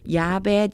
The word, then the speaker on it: Japheth: 샘과 함과 and Japheth. 야벳입니다. 요게요. J가 영어 발음으로는 G 발음이 나지만요. 우리나라 말에서는요. 이응 발음이 나요. 그래서 야벳 이렇게 표현이 되어져 있습니다.